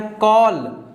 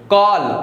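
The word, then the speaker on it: call: इसके बाद में यहाँ पर क्या है, कॉल, कॉल। तो यहाँ पर एक काय का काम कर रही है, बड़ा आ का काम कर रही है, कॉल, कॉल, ठीक है। तो बड़ा आ की आवाज आ रही है।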